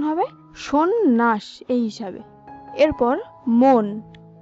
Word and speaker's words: সন্ন্যাস: এই হিসাবে এরপর সন্ন্যাস, সন্ন্যাস শব্দের সঠিক উচ্চারণ হবে সন্ন্যাস।